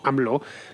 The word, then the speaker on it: AMLO: conocido por sus iniciales a ml o pronunciado aproximadamente algo así como anv lo registró este martes su